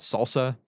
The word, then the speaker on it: SLSA: It's SLSA. We say it Salsa, we spell it SLSA.